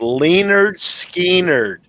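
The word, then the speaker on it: Lynyrd Skynyrd: I had a roommate years ago who was a big Leonard Skinner fan, and he had an album that was said it's pronounced Leonard Skinner.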